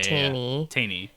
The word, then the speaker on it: Teini: Because the first word, I told myself it rhymes with like pain or obtain. So Yeah. Taney.